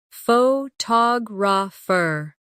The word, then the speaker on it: photographer: Now, photographer. Notice how the stress changes when the word becomes longer.